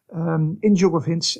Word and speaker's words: INJUGOVINS: which we abbreviate to INJUGOVINS, as you properly pronounced, INJUGOVINS, and we try to build up knowledge in